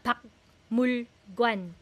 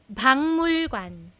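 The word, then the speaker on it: 박물관: So itong pak murgan for museum kung pansin niyo po nagnasalize ang aking pronunciation hindi siya bakmulgwan bangmulgwan bangmulwan pangmulwan pangmulwan yan po ang talagang pronunciation ng word ng museum hindi siya pakmurwan hindi Siya pakmulwan.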